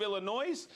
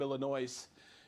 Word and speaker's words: Illinois: said oh you're from Illinois and they go the S is silent I go really okay